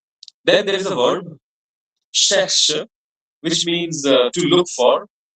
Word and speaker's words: cherche: CH is pronounced as sh, so it will be cherche.